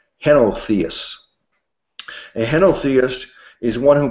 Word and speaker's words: henotheists: It says most Roman emperors and citizens were henotheists. I don't know if I'm pronouncing it correctly. It's pronounced H-E-N-O, henotheists.